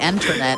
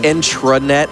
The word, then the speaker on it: intranet: You You keep mispronouncing the internet and I'm very upset about it. It's the intranet.